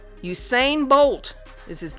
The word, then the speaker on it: Usain: I'm going to say that his name is pronounced Usain Usain Bolt is his name yep Usain Bolt that